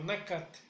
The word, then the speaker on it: nakat: La carne lo pronunciamos como nakat.